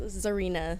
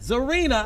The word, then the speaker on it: Czarina: My name is pronounced Czarina. Czarina. I knew the C was The silent. C is silent.